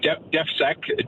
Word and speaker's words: DEFSEC: Is that pronunciation proper? Is that or? Yes, DEFSEC, Defense and Security.